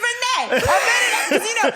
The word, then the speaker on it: Renée: And I'd be like, my name's Renée. And it rhymes with today.